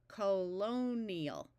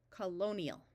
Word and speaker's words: colonial: Here we have an I before an A, so we want to divide here. This I is going to have a long E sound most of the time. Colonial. Colonial.